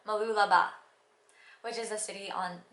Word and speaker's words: Mooloolaba: face prominent when I went to malulu no no Mooloolaba which is the city